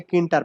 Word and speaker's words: Tkinter: হয়, এটাকে বলে হচ্ছে কিন্টার প্যাকেজ। মানে টি কিন্টার, মানে টি কিন্টার বলে আসলে, মানে যখন স্পেলিং করতে হয়, প্রোনাউন্সিয়েট করতে হয়, তখন বলে কিন্টার প্যাকেজ, পাইথনের কিন্টার প্যাকেজ।